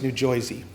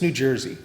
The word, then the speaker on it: New Jersey: coast people love to pronounce the state I'm from as new jisy we're actually not new jisy here it's New Jersey and when I would